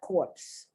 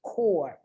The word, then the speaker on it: corps: incorrectly just from french a lot of people pronounce this word incorrectly poor it is not corpse corpse is c-o-r-p-s-e corpse that's a body that is no longer alive of course it's a dead body this is core you belong to the marine corps you do not belong